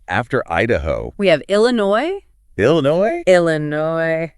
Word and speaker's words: Illinois: Idaho we have Illinois Illinois Illinois silent S at the end oh that gets people